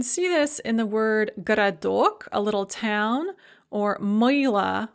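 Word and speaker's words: городок: so you can see this in the word garadok a little town or moyla or lyanna or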